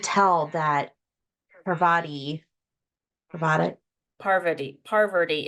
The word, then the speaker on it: Parvati: Parvati. It took me a long time to say her name right. There's like too many Rs or something.